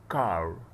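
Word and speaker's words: car: هنا حرف السي ده بنطقه كاف، وبرضه هقول حكايته كاملة لما ابدأ لما اوصل له يعني، لكن اللي يهمني في الموضوع هو الاي. فهنا قلت كا كا كا ما قلتش كي ولا كو، كار.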